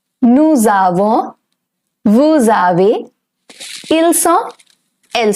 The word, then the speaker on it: nous avons: Because whenever the word nous, it is followed by a vowel, the pronunciation changes from nous to nous. It's known as liaison.